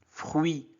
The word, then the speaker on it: fruit: U-I se prononce oui. Fruit.